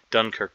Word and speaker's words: Dunkirk: about this where the which syllable is stressed platoon the second syllable is stressed Dunkirk the first syllable is